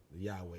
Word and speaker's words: Yahweh: It's Yahweh is how they pronounce it.